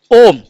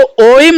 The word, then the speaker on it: ओम: जब हम इसका उच्चारण करते हैं तो इसको ओम नहीं उच्चारित किया जाता है, इसका उच्चारण होता है ओम। इसको लंबा खींचा जाता है, इसको क्या किया जाता है? लंबा खींचा जाता है, ओम, इस तरीके से।